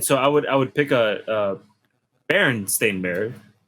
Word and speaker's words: Berenstain: A lot of people remember it being spelled and pronounced Berenstein, but it's actually Berenstain, which is.